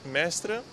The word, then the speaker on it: Mestre: coppia di fidanzati olandesi che però soggiorna a Mestre. One day here and we are staying in Mestre, if I pronounce it good.